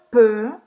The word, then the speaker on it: peux: Então, je peux. Je peux. Eu posso. Presta atenção na pronúncia, né? Repete aí, Emile. Je peux. Peux. Peux. Faz a boca do O e fala E.